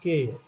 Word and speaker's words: care: Mayor, bear, near, केयर, fair, चेयर and care. Okay. So the pronunciation is like this, where you pronounce only the last sound and you do not pronounce this r, because r is silent.